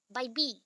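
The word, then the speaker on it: Bybee: That is, आप baby नहीं बोल सकते यहाँ पे, बेबी वर्ड अलग आएगा। तो बाई बी, आप बाई बी बोल लो, स्पेलिंग वाइज भी आ जाएगा। एंड हम एक्चुअली अगर डिटेल में नहीं जाते, फटाफट प्रोनाउंस करते तो बेबी आता है, तो बेबी हम नहीं बोलेंगे, बाई बी बोलेंगे।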